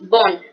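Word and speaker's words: bonne: Por ejemplo, bon, en masculino, bueno, bon, femenino, bon. En la pronunciación del masculino es como más nasal y el femenino es más normalito, ¿listo?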